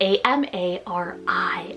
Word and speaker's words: Amari: Then I have Amari, spelled A-M-A-R-I, Amari.